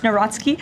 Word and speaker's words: Nawrocki: He met with uh Karol Nawrocki, if I'm pronouncing that correctly. Yes, Nawrocki.